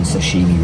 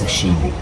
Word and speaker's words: sashimi: Right, so I've probably been pronouncing sashimi wrong for the whole video. It's sashimi, alright?